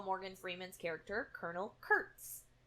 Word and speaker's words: Kurtz: Morgan Freeman's character Colonel Kurtz k-u-r-t-z it's not Curtis in the book his